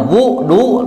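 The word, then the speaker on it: وُضوء: Nah, kalau dibacanya wadu berarti cai keur wudu. Tapi kalau dibacanya wudu teh berwudu.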